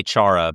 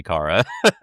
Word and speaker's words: Kara: Oh, I say Chara, but it is supposed to be Kara.